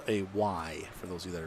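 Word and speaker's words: wye: It's called a Y for those of you that are familiar, and it's spelled, I believe, W-Y-E.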